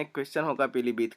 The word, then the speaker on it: पीलीभीत: क्योंकि जब हम इसका उच्चारण करते हैं तब हम छोटी ई का ही उच्चारण करते हैं, हमारे मुंह से पीलीभीत ऐसा नहीं होता है। पीलीभीत मतलब कि हम छोटी